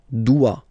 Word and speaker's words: doit: Il, elle doit. Final T not pronounced.